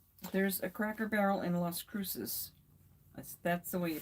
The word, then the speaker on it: Las Cruces: There's a Cracker Barrel in Las Cruces. That's the way you pronounce it.